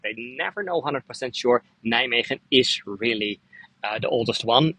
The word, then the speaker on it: Nijmegen: in the eastern part in the city of Nijmegen. That's how we pronounce it.